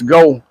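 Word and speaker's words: Geaux: pronunciations the Cajun pronunciations the the eaux like is in go g-e-a-u-x go titles go Saints so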